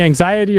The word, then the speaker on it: AXTY: I MEAN, A X T Y, is that supposed to be anxiety or how would you pronounce that? Exactly, yeah. Um, when we started, we were called anxiety, but no one could